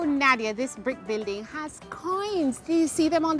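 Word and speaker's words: quoins: Oh, Nadia, this brick building has coins.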